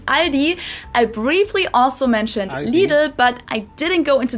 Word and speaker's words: Lidl: Lidl, while the correct German pronunciation is Lidl. It might be a little hard to say, but I think it helps to know that both of the L sounds are light L's that you pronounce with the top of your tongue. So it's Lidl. Lidl instead of Lidl.